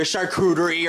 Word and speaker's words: charcuterie: And then you brought your charcuterie or shark boy and lava girl board.